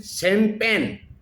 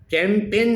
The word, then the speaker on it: Champagne: एक CHAMPANGE इसको क्या बोलते हैं? शैम्पेन। CHAMPAGNE चैम्पेन नहीं बोलते हैं उसको, शेम पेन, शेम, CHAM, चेम नहीं बोलेंगे इसको।